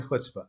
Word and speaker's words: chutzpah: first if i may how would you define hutzpah and by the way you pronounce it perfectly you're here you are you